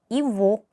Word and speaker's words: его: 이보, v로 발음을 해주시면 돼요.